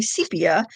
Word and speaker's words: sepia: So a couple weeks ago, I was looking for some sepia, it's actually sepia. I looked up the the pronunciation because I say it both ways, and I'm like, I'm never sure which is right.